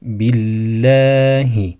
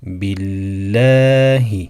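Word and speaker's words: بالله: durumda da Allah lafzının lamı ince okunur billahi billahi şeklinde yine Allah lafzından önceki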